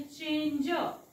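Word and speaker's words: change: पण इ वाचायचा नाही मग हा शब्द बनेल चेंज जी ई जी च्या सोबत इ आला तर ज उच्चार करायचा ग नाही करायचा म्हणून मी इथे ग लिहिलं नाही ज लिहिलेला आहे चेंज नेक्स्ट बघूया आपण प्लीज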